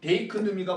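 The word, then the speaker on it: δείκνυμι: 그럼 보여주다라는 건 뭐냐 헬라어로 데이크 놈이라고 합니다 자 베이크 누미 이렇게 발음이에요 자 그럼 데이크누미가 먼저 일어나야 돌아오는 거야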